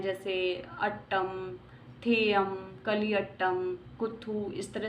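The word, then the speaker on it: തെയ്യം: ओटंथुल, कुदियट्टम, ये थेयम नहीं है, थेयम है, थोड़ा स्पेलिंग का है, आप देख लेना।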